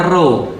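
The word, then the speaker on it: Ρ: Nah, jadi XP itu kalau XP bacanya dalam bahasa Yunani, X itu bacanya Chi, P itu bacanya Ro.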